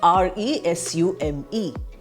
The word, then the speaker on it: resume: we have the word r-e-s-u-m-e when we use it as a verb we pronounce it as resume I start speaking I